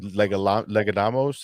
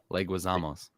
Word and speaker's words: Leguizamo: Johnny, I can never pronounce his name. Legadamos. I always mess it up. Oh yeah. I call him Johnny Legs. Leguizamos.